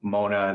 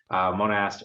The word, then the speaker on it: Monast: It was originally Mona, then they added an ST, but they still pronounce it as Mona. So I go as either way, Monast or Mona.